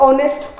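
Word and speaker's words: honest: Then comes ऑनेस्ट। अब अगर आप बात करते हो कि जो एच तो जी साइलेंट है, ऑफ कोर्स वापस से साउंड हमारी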